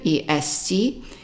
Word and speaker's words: est: And then we go to the next word here, est. Est is pronounced as an A when it means is.